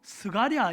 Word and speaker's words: 스가랴: 걸 굉장히 자랑스럽게 여겼어요이 사가랴는 히브리어 발음으로 스가랴 있니다 누군지 아시죠 예